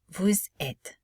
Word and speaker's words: vous êtes: Vous êtes. Notice we do not pronounce this ES, vous êtes, because we do not have to pronounce the final vowel sound, because this is at least one syllable word.